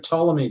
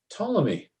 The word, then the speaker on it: Ptolemy: what was his name ptolemy a ptolemy ptolemy okay i thought you said tony at first how do you spell ptolemy anybody p-t-o-l-e-m-y ptolemy ptolemy's is read ptolemy ptolemy like the pterodactyl really pterodactyl spelled with